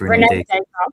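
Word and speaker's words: René Descartes: Do you say his name Rene? Is that how you pronounce his name? Or yes. It is Rene Descartes.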